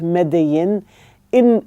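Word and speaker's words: Medellín: Um and he's in a university called the EIA University in Envigardo which is probably a town near Medelin pronounced Medí in uh Colombia as I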